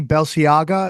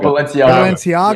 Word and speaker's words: Balenciaga: night we were talking about how do you pronounce it, Johnny? Balenciaga? As how do you Oh, Balenciaga. Balenciaga.